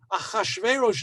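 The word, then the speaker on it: Ahasuerus: some of these things some of the names i'm going to use the hebrew pronunciation because the english is so hard ahashverosh is easier to say than shueirus all right our toxins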